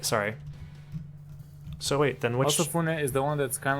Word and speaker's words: Osafune: This is Ofusane. Osafune. Osafune. That's how you pronounce it.